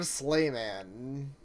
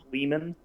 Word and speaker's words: Sleeman: What do you think of Slayman? Also, I'm Slayman? pretty sure it's pronounced Uh, Sleeman.